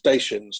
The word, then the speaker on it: Dacia: So definitely the car company pronounces itself Dacia, and that's from Romania.